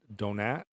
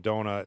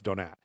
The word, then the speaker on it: Donat: it's starring Robert Donat, which is, I believe, the correct way to say his name. They were having some fun with that on the podcast and calling him Donut, and I think they found like 5 or 6 different pronunciations, but I think it's Donat. And Madeline Carroll, and it's